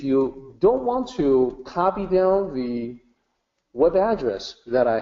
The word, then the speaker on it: Tao: the word down and you will hear me say it with addie sound always that's the way it sounds in Mandarin is the way that I have always said that it and in fact it's the correct way to say in English even though the English word t AO spelled with a tee so many people would just say you know towel I believe in